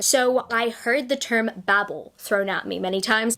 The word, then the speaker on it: Babel: She pronounces it as Babel. I pronounce it as Babel. The reason why I pronounce it as Babel is because I associate the word Babel with the term babbling.